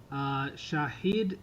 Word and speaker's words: Shahid: to have a mustache, just like their owner, Shahid Khan.